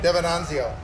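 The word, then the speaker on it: Devenanzio: Mm-hmm, that's how you pronounce it. DiVenzanio.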